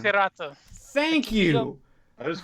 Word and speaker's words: Hirata: Hirata.